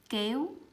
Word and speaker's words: kéo: There's no forcing here. Okay, so we have, the example I have here is kéo, kéo.